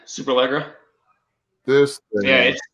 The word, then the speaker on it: Superleggera: Superlaga? Superlegra. This thing. Yeah, it's sweet. Did you see the price point on it? Yes, $700,007, and they did. That's awesome. That's hilarious. The Superleggera.